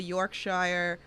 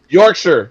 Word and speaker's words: Yorkshire: So did you fall in love with the Yorkshshire? Did I say right? Yorkshshire pudding. Yorkshire.